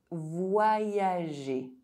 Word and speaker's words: voyager: When you see the letter Y between vowels, think about the letter Y as two eyes, as it is also going to affect the pronunciation of the vowel that precedes. Voyager.